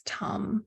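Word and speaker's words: tam: all forms of Tara the seed syllable is tum so pronounce Tom like with more aspiration these syllables written as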